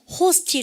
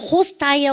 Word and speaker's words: hostile: 호스틸 하냐? 이 단어 대박이에요. 그러니까 호스타일. 그러면 호스타일, 호스틸 발음 다 한대요.